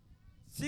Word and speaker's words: শ্রী: আরে মাসি উনার নাম ছিড়ি ছিড়ি নয় বলো শ্রী শ্রী শ্রী শ্রী শ্রী শ্রী শ্রী যেন সারে